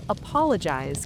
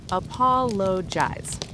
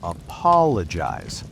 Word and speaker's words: apologize: So the word apologize can be tricky. It's a long word, 4 syllables. Right. Apologize. The stress is on the second syllable, apologize. Not apologize. That's wrong. And not apologize either. Right, it's apologize.